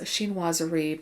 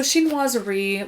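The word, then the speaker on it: chinoiserie: the influence or assuming a style known as sheen wazari but i'm going to spell it for you c h i n o i s e r i e so xin wazari literally is a term that describes the influence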